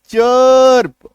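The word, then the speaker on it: chirp: सी एच आई आर पी, चर्प, अ का sound आ रहा है, आ रही है बात समझ में।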